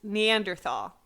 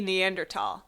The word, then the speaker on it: Neanderthal: that and for me it's Neanderthal which is supposed to be Neanderthal yeah oh that's so